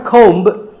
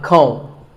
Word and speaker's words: comb: Not a comb, a comb. A similar sounding word is tomb. It's often wrongly pronounced as tomb, but the B is silent and the O is pronounced with an oo sound.